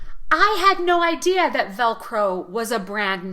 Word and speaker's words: Velcro: practice the pronunciation of Velcro the first syllable is the strong syllable so stress that syllable a lot velcro we also have